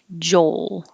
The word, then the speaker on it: Joel: joel but number 13 if you say joe you don't hear an l at the end there's no l at the end so when you're saying joel and you want to make clear that it's the name with an l hold your tongue in the l position a little longer to make the noise joel oh here your